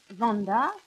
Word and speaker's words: vendas: Sinjoro Durand vendas — VENdas on prononce toutes les lettres — sian aŭtomobilon.